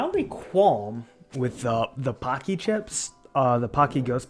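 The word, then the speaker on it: Paqui: pepper can be good have you had Pocky it's spelled p a q i i it's a brand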